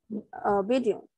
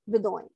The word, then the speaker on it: Bedouin: it was inhabited by nomads called Bedouin, okay, or Bedouin, and or Bedouin. So there are different pronunciations for this word.